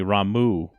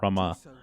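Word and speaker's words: Ramuh: the first time i've ever actually heard it pronounced uh the lightning summon is apparently ramu not rama i believe that for me it was always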